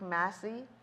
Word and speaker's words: Massey: So, we know in the movie, okay, so we know that Rick Massey, is that how you say his name? Macy.